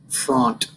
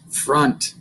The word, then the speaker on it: front: font. That's how we read it, the way it's spelled. But what does it really say? Front. You got it. All right, front. But we say front.